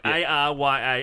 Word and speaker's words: Arya: It's how it's spelled. A-R-Y-A. Arya. Yeah. Aya.